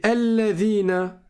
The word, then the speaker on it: الَّذِينَ: Mais alladhina, le alif, on ne le prononce pas, celui-là.